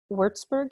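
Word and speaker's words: Würzburg: computer science and philosophy at the university of wurzburg is that how you say it yes um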